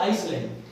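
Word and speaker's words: island: ल के बीच में आई और ल के बीच में जब एस आता है तो वो क्या होता है साइलेंट होता है जैसे आप आइसलैंड क्या आइसलैंड और इसमें हम एस को नहीं बोलेंगे एस को उच्चारण नहीं करेंगे हम बोलेंगे आई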